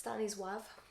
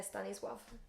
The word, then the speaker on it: Stanisław: It's Stanisław. What? Yeah. Stanisław? Yeah, Stanisław. Okay, well there's an L in there, but that's obviously not how it's pronounced.